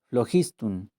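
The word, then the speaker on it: phlogiston: contenían una sustancia llamada flogiston pronunciado floj istun las cenizas de la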